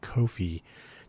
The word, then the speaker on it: Ko-fi: I pronounce it Ko-fi to emphasize that it's Ko-fi, not to be confused with coffee, even though it's probably pronounced coffee.